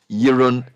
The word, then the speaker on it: Jeroen: But it's pronounced Jeroen. So Verheu are pronounced Jeroen, and then the surname Verheul is pronounced Verheul. Verheul. So the V is F and the J is Y.